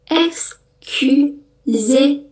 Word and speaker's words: excusez-moi: Excusez-moi. Tulisannya persis ya, mirip-mirip, gak beda jauh. Tapi bacanya excusez-moi. Ingat huruf O ketemu I bacanya wa. Jadi moi. Excusez-moi.